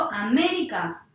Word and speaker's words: América: Yo digo América, no suena bien. Digo América, tampoco, así que no va a ser ni aguda ni grave. Digo América, sí, entonces la sílaba fuerte va a ser esta, ¿sí? Que es la antepenúltima.